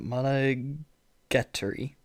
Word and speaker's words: Monogatari: Monogat, how do you pronounce that? Monogatari.